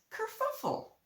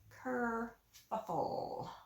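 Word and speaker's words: kerfuffle: go check her out okay the word is Kur fuffle and it's I'll write on the screen and it is spelled k e r f u FF l e Cur buffle okay so write a sentence below using that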